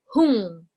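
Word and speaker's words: hūṃ: Many of you seems to saying hum. It's not hum, okay? It's hung.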